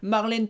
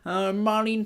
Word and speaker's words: Marlene: Donc la rumeur dit que la fenêtre était ouverte et que cette dame qui était d'origine américaine, Marlène Thomas, elle s'appelait Marlene Thomas, pour le prononcer à l'américaine, était là et qu'elle pendouillait comme ça.